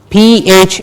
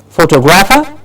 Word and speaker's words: photographer: The stress is on Tographer. So how do we say that? How will we pronounce it? Photog. That's the change that will happen. It will become photographer. Not photographer, but photographer. The tog gets a clear stress and it is pronounced as photographer.